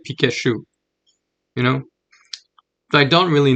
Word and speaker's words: Pikachu: there's the T says to pronounce the T before the CH you U but in French you would just say Pikachu if you didn't know